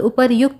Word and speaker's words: उपर्युक्त: यहाँ पर उपर्युक्त इसका उच्चारण होता है।